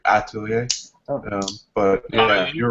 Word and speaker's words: L'Atelier: Atelier. Yeah. You don't really pronounce the L. You don't really pronounce it. You can put a little more emphasis on the A, like Atelier.